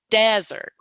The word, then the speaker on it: desert: louder and longer so the first one desert you definitely hear the first part the de much louder longer the pitch goes up on that it just stands out prominently and the second word